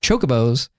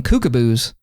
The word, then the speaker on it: chocobos: I always remember I I mispronounced chocobos. I just called them cocoboos.